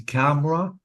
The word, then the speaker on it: camera: these two words okay camera and family yeah so be careful because the vowels are deleted I cannot say C you have to say camera I deleted the e or the vowel letter and family I didn't say family so be careful